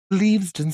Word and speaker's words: Leavesden: So those were filmed on set at Leavesden Studios. I believe it's pronounced. It's leavesden.